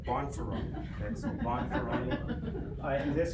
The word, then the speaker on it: Bonferroni: Definitely not beefaroni like the undergraduates say, but Bonferroni.